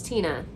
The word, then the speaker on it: Tienya: I had a student, true story, her name was Tina. That's how you pronounce her name, but you spelled it Tienya.